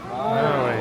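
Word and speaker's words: Māui: With that long let me hear it. Maui. Maui. So Maui is the name of the ancestor, the person, the dude. There's another part to this one. So you ho, pili mai, repeat after me. Maui. The short I, you hear it?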